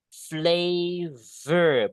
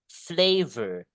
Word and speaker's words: flavor: Flavor baca. Ingat F sama V itu beda. F itu tipis. Flay. Flay. Kalau V itu V itu tebal. Flavor.